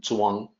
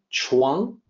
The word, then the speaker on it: Zhuang: It depicted Zhuang using CH with the notation that it is supposed to sound like Zhuang.